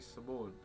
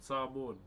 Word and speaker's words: Samoan: Are you Samoan? Nah. Why did I say it like an American? Samoan.